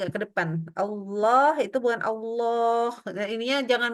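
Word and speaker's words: الله: Yang kita naikkan tapi enggak boleh O jadi mulutnya kita harus enggak boleh gerak ke depan gitu Allah Allah bukan Allah mulutnya itu enggak boleh maju ya berarti posisinya tetap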